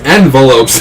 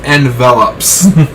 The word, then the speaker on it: envelops: Darkness envelopes him. Oh, sorry, Chills. It's pronounced envelops.